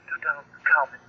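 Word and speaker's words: Tutankhamun: the name of King to of Egypt it's pronounced to Common oh we about ready to close almost 10:00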